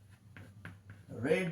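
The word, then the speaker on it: read: Bible is রেড বাই, এখানে রিডস আছে, মানে হয়ে যাবে রেড। Bible is রেড বাই, উচ্চারণটা রেড। এখানে যেমন বললাম রিড, এখানে উচ্চারণ হবে রেড।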